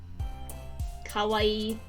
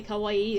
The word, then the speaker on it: kawaii: the same way - the extra eye and an O instead of an A means scary which my roommate likes